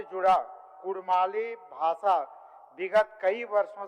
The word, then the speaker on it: कुड़माली: विभिन्न विद्वानों के मतानुसार कुड़मी समुदाय का नाम उच्चारण हार्ड डी या सॉफ्ट डी यानी र अक्षर के साथ स्पष्ट रूप से कुड़मी के रूप में एवं इनके मातृभाषा नाम का उच्चारण कुड़माली नेगाचारी जैसे शब्द प्रयुक्त होते हैं।